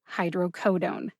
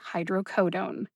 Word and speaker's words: hydrocodone: dictionary online which is a subscription-based resource the pronunciation of hydrocodone is hydrocodone i'm pretty sure you would recognize it either way that tony said it but officially again the usp dictionary online has listed it as hydrocodone last but not least i really appreciate the